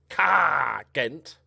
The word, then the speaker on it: Ghent: This guy, Jake Henderson from Ghent. Ghent. That's how you pronounce it, if you didn't know.